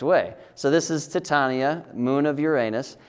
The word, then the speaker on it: Titania: So this, for the longest time, I was calling this Titania, but our school did a play, Midsummer Night's Dream, and I found out that it's actually pronounced Titania.